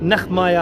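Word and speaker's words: נחמיה: की अगर बात करें तो इब्रानी में इसको जो प्रोनाउंस किया जाता है वह नगमा है और इसका मतलब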